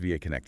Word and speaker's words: VAConnect: Pronounced VAConnect, yes.